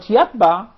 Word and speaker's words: يتبع: Because the ta and the ta are very nearby. Yet they change the meaning totally if you change one of the letters to the second or to the other. Yatba means puts a seal, but yatba means to follow.